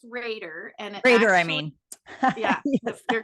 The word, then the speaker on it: Rader: what is that okay okay so um it's pronounced Raider Ander I mean yeah you're good it's I